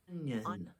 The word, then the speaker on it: onion: Onion. Onion. I know it looks like ion, but it's onion.